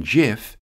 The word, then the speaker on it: GIF: By the way, the letter G in GIF is pronounced like the first letter of giraffe or giant, according to Stephen Wilhite, the inventor of GIFs.